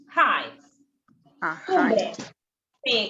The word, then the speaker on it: heights: Height. Sí, como se escribe heights, pero se pronuncia heights porque viene de alto, de high.